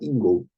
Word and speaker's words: Ingle: a técnica radiográfica de Ingold. Se escreve Ingle, se pronuncia Ingold, para fazer a odontometria.